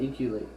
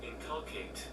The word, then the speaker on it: inculcate: Inculate. Let's see how you say it. Inculcate.